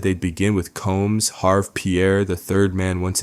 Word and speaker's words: Harve: Some outlets spell it Harvey, but it's Harve.